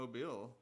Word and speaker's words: Mobile: from Mobile.